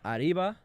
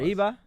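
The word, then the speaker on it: arriba: Aribba. You don't need to pronounce the B. You want to roll your ass. Arriva.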